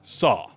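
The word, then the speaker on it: 사: In Korean, the number four is pronounced sa, and sa is also the same word for death.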